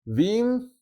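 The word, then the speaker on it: been: Por último y para formar los participios, diremos binio del presente. En cambio, para el participio del pasado diremos bin en pronunciación fuerte y v en la débil.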